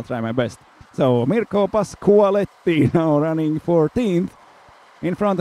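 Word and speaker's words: Pasquali: I have learned a thing or two today also and now I know it's Pasuali. So I'm sorry for yesterday's pronunciation uh which was a little bit off.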